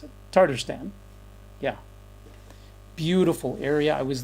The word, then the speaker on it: Tatarstan: How you pronounce it? Tatarstan.